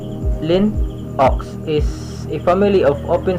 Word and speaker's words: Linux: or macs so lastly the linux so linux pronounced lin ox is a family of open source operating systems